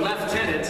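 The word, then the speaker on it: lieutenant: and taught us all the proper pronunciation of leftenant it's Tom Mison last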